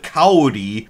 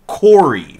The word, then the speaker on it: Kaori: Like, Kaori, the pronunciation of her name in English is all the fuck over the place. But right? most consistently, they seem to have gone with, instead of Kaori, they've gone with Kori.